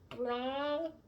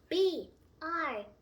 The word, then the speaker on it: bronchi: That's called bronchi. BRANCHI. But to pronounce it, BRANKI.